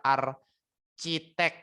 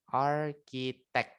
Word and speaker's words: architect: Nah, bacanya bukan architek ya, tapi pakai K. Pakai K. Arq. Arq gitu ya. Arq. Arkitek.